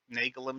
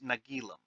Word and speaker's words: Nagilum: monster that devours entire Starships how is it nalum stupidity that caused it we don't know actually I just realized that I'm pronouncing it wrong it's nagilum or at least that's how the script says